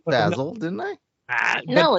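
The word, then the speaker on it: Bazil: American ACC I said basil didn't I no it's basil not basil it's not basil it's basil like Stephen has to say so I'm glad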